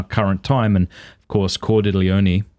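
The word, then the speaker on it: Cordileone: time and of course cordelioni that's how you say his last name is i always am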